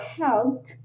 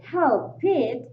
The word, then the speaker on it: helped: with the word helped, if you say help it as two-syllable words, then it is very likely that people will not understand the word or what you are saying. It is pronounced like helped, helped, helped, right?